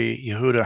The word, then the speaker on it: Yehuda: The accent on the da.